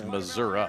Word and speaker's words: Missouri: It's Missoura. It's like if you say Louisville. That's It's how people where you're from. It's Louisville. Louisville. The fewer letters you pronounce, the more local you are, I think.